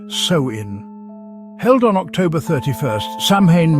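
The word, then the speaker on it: Samhain: Long before trick-or-treating and jacko'lanterns, the Kelts celebrated Samhan, pronounced sewin.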